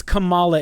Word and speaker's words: Kamala: It's Kamala. It's not Kamala, because Kamala is Kamala Harris. Kamala Khan is how they say her name.